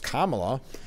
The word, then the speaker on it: Kamala: I mean, it's Kamala.